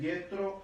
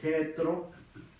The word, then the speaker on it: Jethro: Que es el nombre Jethro o Jetro o Yitro, ¿verdad? Diferentes pronunciaciones, ¿verdad?